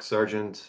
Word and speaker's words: Sargent: uh Sargent essay but it's spelled different so it's s-a-r-g-e-n-t yeah it's not it's not the military there's three types of spellings or this one's s-a-r-g-e-n-t like phonetically how it sounds yeah well I believe